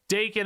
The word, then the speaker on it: Daken: Then you play your buddy Daken, and yes, I pronounce it Daken because that is how Ben Brode said it.